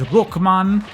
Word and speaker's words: Rockman: But Rockman, especially when you say it in Japanese, Rukman, I like it.